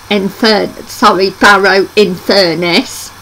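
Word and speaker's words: Barrow-in-Furness: The second Ship Inn is located Barrow and Farnes in Cumbria on the Teeley Island, Barrow in Furness. And that's how you pronounce it.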